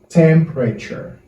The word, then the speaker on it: temperature: And we have the next word is temperature. Moi, je vais répéter. Temperature. Okay? Temperature. Temperature. It's like the letter E is silent, is not pronounced.